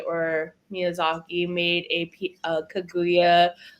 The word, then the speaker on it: Kaguya: say is it Kya the real terminology or like the real way to pronounce it is kaguya but like kaguya is fine I've definitely got a lot of alternative response like kuga but I'm actually like perfectly fine with either or what does that mean